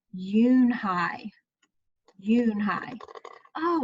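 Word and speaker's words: Unhei: no unhide it spelled you and hei it's pronounced Eun Hye Eun Hye oh it's you you hey the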